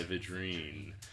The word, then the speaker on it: Vidrine: Today we've got Dustin Vidrine. Am I pronouncing that correct? Perfect. All right, Vidrine.